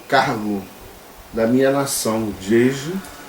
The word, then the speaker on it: Djedje: Definição de cargos sacerdotais em Jeje, ou como se escreve, de G, é assim que se escreve Jeje, Jeje.